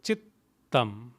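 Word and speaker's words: चित्तम्: your tongue up there are two t's so chittam had there been one tea it would be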